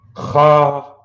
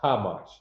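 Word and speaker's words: חמש: It is pronounced Khamash. Khamash. Yawam Khamash. You hear that guttural Khamash, not Kamash.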